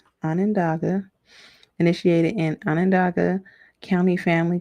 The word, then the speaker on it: Onondaga: Onondaga. Onondaga.